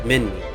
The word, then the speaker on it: Minmi: You'll be getting to know Kronosaurus, Minmi, so it isn't Mimi, it's Minmi. Sungarteris, I think that's how you say it, I'm not too sure, and Kronosaurus.